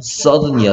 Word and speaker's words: southern: 그 다음에 얘 발음 sudden이야. sudden. 명사형은 south죠. south. south가 형용사형 바뀌면 스펠링 이렇게 해놓고 sudden이라고 읽는다.